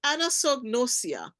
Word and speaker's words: anosognosia: How do you pronounce it? It's a fancy word, like you said. Yes. So anosognosia.